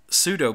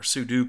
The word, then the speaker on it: sudo: the first one created pseudo privileges or sudo privileges that's the correct pronunciation on that um but